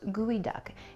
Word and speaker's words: geoduck: okay here we go geoduck but it's pronounced gooey duck it's actually comes from a Nisqually word which were this creature